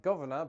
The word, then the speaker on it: governor: linguistic structures that's why some Americans might also dissimilate the first R in words like Governor berserk and particular moving forward the governor